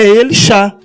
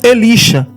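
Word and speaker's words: אלישע: E a pronúncia é Elixá. Elixá, Eliel, Elixá. A pronúncia Elixá e não Elisha. E nós ainda desconfiamos que não é Elisha, é Alixá.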